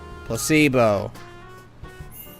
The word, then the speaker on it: placebo: The stress is on the middle. Placebo.